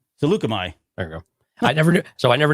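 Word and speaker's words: Saleucami: But right, yeah, and then they approach Salakami. Salukami. There you go. I never knew how to pronounce it, so I was super excited, and I have to trust Tick.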